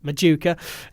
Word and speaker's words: Machuca: York City friendly and that's how I know how to pronounce his name I would have been same ojika but Machuca 20 year older striker